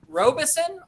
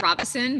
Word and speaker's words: Robison: And now is it ROBISON or ROBISON or what? I pronounce it Robison, but ROBISON is fine too.